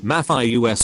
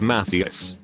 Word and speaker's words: Matthias: he said matthias's name i realized i had been pronouncing it wrong in my head the entire time mathieu s instead of matheus hung my head when